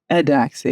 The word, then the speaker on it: Eudoxie: Eudoxie? Adoxie.